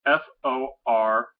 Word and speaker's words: Forsyth: Forsyth. I'm not sure the correct pronunciation of that. It's a town. Hold on 1 second. It's Forsythe. We pronounce it Forsyth.